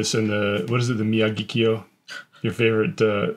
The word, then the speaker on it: Miyagikyo: The Miyagikyo, your favorite mispronunciation of mine. Yeah, how do you say it? Miyagi-do. Miyagikyo. Miyagi. It's like Mr. Miyagi.